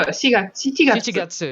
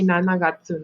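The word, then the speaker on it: 七月: So Shichigatsu. Shichigatsu. Yeah. Okay. Big Shichigatsu, brain. July. Okay. They don't say Nanagatsu no. Okay. So they don't say Nanagatsu. They say Shichigatsu.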